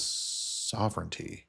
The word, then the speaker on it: sovereignty: Or let me say it a different way for somebody who mocked me on my mispronunciation. Sovereignty. Sorry, I just had to add that. Because somebody commented, sovereignty doesn't rhyme with serenity.